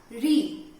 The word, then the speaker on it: ऋ: री से ऋषि, री कैसे उच्चारण होगा इसका? री।